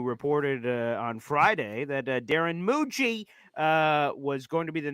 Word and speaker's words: Mougey: So it is Darren Mougey. He is the guy that's also how to pronounce the name, Jet fans.